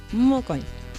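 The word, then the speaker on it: mokõi: También el acento nasal lo tenemos en la O, mocoy.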